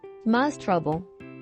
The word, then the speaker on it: demonstrable: To complicate things further, able may also shift the stress one syllable to the right, as in demonstrate, demonstrable.